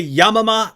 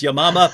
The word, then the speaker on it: Yamama: Battle of I say yamama that she pronounced it correctly which is your mama but as soon as